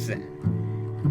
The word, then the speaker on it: Zen: Your name is Zen. It's pronounced more like Jen than Zen, but most people have been determined to re mispronounce it since in elementary school.